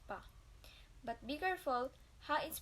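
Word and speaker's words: ぱ: Ha with handakoten is pronounced as pa.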